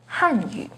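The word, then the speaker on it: 汉语: The pinyin and tone for Hanyu is with the 4th falling tone on Han, Hanyu. The pinyin and tone for Hanyu has a 2nd rising tone on Han, Hanyu.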